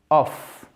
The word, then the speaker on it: off: Ici, ça se prononce toujours, souvenez-vous, O-F comme ça, of, O-2-F, off.